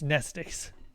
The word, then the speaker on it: Mnestics: The M is silent. It's nestics.